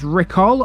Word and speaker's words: Riccall: to today's parish video recall which is pronounced sometimes as ricol lies three and a